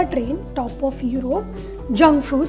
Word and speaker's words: Jungfrau: train top of Europe junk food जिसे अच्छे से करो और प्रोनाउंस करो तो कहते हैं यंग फरो बट मैं अभी हर